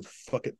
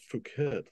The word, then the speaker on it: Phuket: Now you know what Indian food to get if you're in fuck it Thailand.